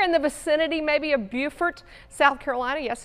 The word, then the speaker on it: Beaufort: Anticipating that this one's going to make landfall here shortly, somewhere in the vicinity, maybe of Beaufort, South Carolina. Yes, it's pronounced Beaufort in South Carolina.